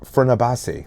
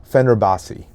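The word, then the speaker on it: Fenerbahçe: Parzan during their time together at I can't Fernabasi. Did I pronounce that right? Fenerbasi the Turkish superpower uh European basketball team.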